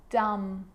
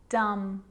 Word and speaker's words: dumb: with the letter B it's always silent when it follows the letter M climb Krum lamb thumb dumb and plumber so practice them with me I'm not pronouncing the B I'm just pronouncing the M consonant sound climb Krum lam some